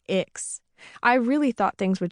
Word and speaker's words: Ix: When I left my big public school and transferred to ICCS, short for Intertribal Community Charter School, and pronounced Ix, I really thought things would change for me.